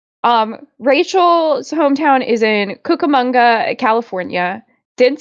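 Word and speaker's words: Cucamonga: thing yeah yeah um Rachel's Hometown is in kukamonga California didn't spell it right but I definitely send it said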